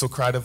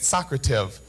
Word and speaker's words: Socrative: called Socrative I just found out that it's pronounced Socrative last night um the last five months or so I've been calling it Socrative so all of my students have heard it